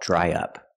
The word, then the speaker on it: dry up: now let's talk about dry up pronunciation dry up to link the vowel I dry to the short uh in up we need a sound in the middle y y dry dry